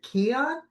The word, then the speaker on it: Keon: Is it Keon? You got it. Perfect. Keon, like a key on something.